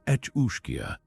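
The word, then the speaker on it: each-uisge: The each uish pronounced etchia shares the Kelpie's ecquin allure, but its hunger is boundless.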